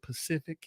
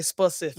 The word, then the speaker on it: Pacific: how you say it Pacific Standard time oh yeah it's they say specific speciic spefic standard all the illiterate people say specific y'all chime on in